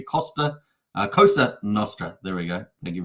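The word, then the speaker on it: Cosa Nostra: for that so just say it correctly Costa kosa Nostra there we go thank you very much the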